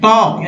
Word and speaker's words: talk: We also may need to talk, L यहाँ silent है, talk, L silent है यहाँ पर talk में, to other over टेलीफोन और सेंड लेटर्स।